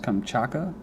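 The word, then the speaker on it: Kamchatka: the volcano in Russia's I think it's pronounced kamaka a region climax a week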